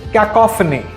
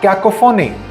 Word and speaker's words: cacophony: is aluminum not aluminum this word is cacophony not cacophony equivocal which means to